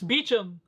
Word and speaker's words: Beecham: Hold up, I remember it saying how he pronounced his name somewhere in here. It's Beecham.